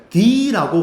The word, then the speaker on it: the: 우리 더라는게 선생님이 아까더라고 발음했는데 얘가 때로는 D라고 발음을 할 때가 있어요. 언제 그러냐? 요거 보세요. 아에 이요우라는 요런 발음 있죠? 요런 영어 단어가 나올 때요 앞에 쓰는요 더를 우리는 발음을 D라고 발음을 하는 거야.